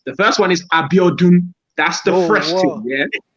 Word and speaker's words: Abiodun: But Abiodun You know when you say it, the N is silent, so you have to do.